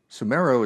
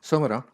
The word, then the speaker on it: Somero: in the evolutionary perspective that George Somero is how most people pronounce it, but it's Finnish, so it's Somero, or close to that.